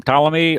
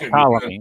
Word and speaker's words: Ptolemy: That's Ptolemy. Yeah, It's Ptolemy. Yeah, the P is silent. It's E-T. kind of like the S in Illinois.